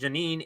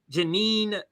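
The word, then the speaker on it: Jenin: So again, Richard Medhurst thread, Israel forced to retreat with I think it's pronounced Janine in ruins, a recap of the last 48 hours.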